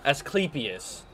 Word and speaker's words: Asclepius: the thing out of what do you say asclepius that's how that's pronounced pronounced pronoun that ain't gonna work